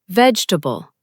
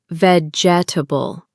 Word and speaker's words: vegetable: The next word is vegetable. Don't say vegetable. Say vegetable. Let it flow.